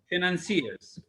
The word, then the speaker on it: financiers: Financiers. The pronunciation of this, not financier. Listen, I play it in the dictionary for you. Financier. We don't say financier or financier or financier. I'll say the spelling again.